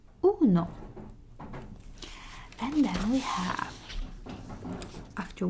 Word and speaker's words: uno: as well is in uno o as in orphan uno and then we have